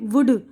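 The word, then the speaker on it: would: हथेली, पाम, काम, सुकून, हाफ, निस्फ यानी आधा, वॉक चलना, फॉक गुरोह इंसानी, टॉक गुफ्तगू, शुड चाहिए, वुड जाएगा, कुड सकना।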